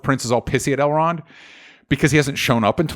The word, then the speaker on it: Elrond: Excuse me, even I'm pronouncing it Elrond. It's L. Ron Hubbard. No, Elrond.